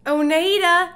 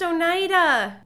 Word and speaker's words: Oneida: oneeda park new york oneeda it's pronounced oneida oneida park that like pisses me